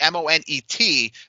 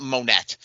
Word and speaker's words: Moné: It's Monet, but I mean, we all know the C silent in it. It's not Monette, right?